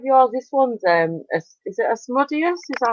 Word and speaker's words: Asmodeus: But it's spelled like Asmodeus. That's how you actually say it.